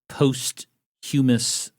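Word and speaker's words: posthumous: and ask for a postumus pardon it it does make you sound smarter when you really land hard on that otherwise silent h Huh don't worry about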